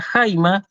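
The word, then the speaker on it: αἷμα: lo vamos a ver se escribe sobre la segunda vocal del diptongo pero se pronuncia en la primera por esa razón yo digo en el caso de la palabra jaime jaime no lo dije pero jaimas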